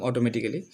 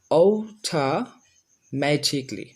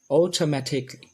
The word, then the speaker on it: automatically: আচ্ছা, যাই হোক, তো আমরা আগে আমরা যেখানে কেলি বলতাম, এখন আমরা উচ্চারণ করব ক্লি, যাতে করে এইভাবে যদি